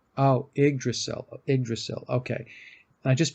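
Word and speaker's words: Yggdrasil: it's either that or igdrasil I I believe it's the Y is pronounced like an i oh igdrasil igil okay and I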